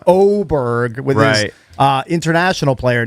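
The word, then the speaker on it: Åberg: Even though his name starts with an A, it's pronounced Oberg with his uh international player.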